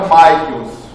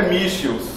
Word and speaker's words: Michels: é o nome que derruba todo mundo na pronúncia eu achava que era Michaels tem gente que acha que é Michels nem Michel é Michels pronúncia correta é Michels é alemão né É porque a a hegemonia